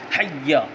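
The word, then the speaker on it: حيّ: مد بھی نہیں ہے۔ حی، ہا یا زبر حی، یا زبر یا، حی، یہ اس کا تلفظ ہے۔ حی علی الصلاۃ، تو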